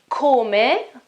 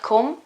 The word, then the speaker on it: come: me is how okay pay attention to the pronunciation here I know that it is spelled exactly like the verb to come in English okay but it is pronounced in completely different way call me okay C and O CO CO and and the E is pronounced call me it's not come it's call me call me call me